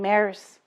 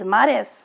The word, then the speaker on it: Mares: to rey and they would say my name last name maris he says i'm not a horse that's you're not a horse that's not your name your name is mares be proud of it so all through his